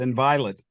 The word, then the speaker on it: Inviolate: In the last couple of years, you've released, I'm going to mispronounce this again, I apologize, Inviolate? Yeah, that's it, Inviolate.